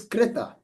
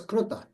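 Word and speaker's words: कृत: The actual sound is krita in Sanskrit. But in the western part of India, for example, in the states of Maharashtra and Gujarat, and they are generally pronounced as kruta. Okay, so you will see all the people from Gujarat and Maharashtra, they always say kruta.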